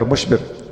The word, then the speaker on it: مشبر: میں بیٹھے ہوئے ہوں، لیکن میں نے حسن، حسین اور محسن کے وزن پر شبر، شبیر اور مشبر یہ تلفظ کیا ہے۔ واللہ عالم، لفظوں کے